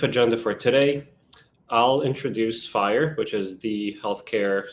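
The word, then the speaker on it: FHIR: the end cool so let's introduce fire pronounced f i e but it's really spelled FH iir as you can see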